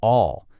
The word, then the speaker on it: Aw: Like their past editor, Ron Aw, and that's pronounced Ron All, said, their workshop is a place where you can have a ton of fun and get astonishing results.